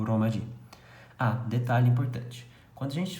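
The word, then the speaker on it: ローマ字: Isso aqui não é um tio, isso aqui é um prolongador. Então, ou seja, você não lê Romaji, você lê Romaji. Então você prolonga a pronúncia do O.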